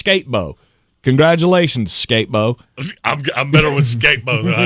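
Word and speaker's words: Skattebo: would make it actually you want me to say it how it's spelled it's skatebo congratulations skatebo I'm I'm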